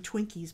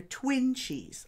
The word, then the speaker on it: Twinchies: make my own twines I keep calling them Twinkies by mistake AK but they're twin cheese I guess that's how they're pronounced so here's what I